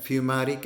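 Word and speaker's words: fumaric: उसे हम बोलते हैं फ्यूमेरिक एसिड। फ्यूमारिक एसिड या फ्यूमेरिक एसिड भी बोलते हैं, प्रोनाउंसिएशन का फ़र्क है।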